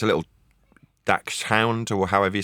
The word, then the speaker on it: Dachshund: Yeah, Dutch hound is correct. You got it, Dutch hound.